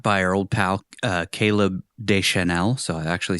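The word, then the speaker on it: Caleb Deschanel: This was shot by her old pal uh Caleb Desel.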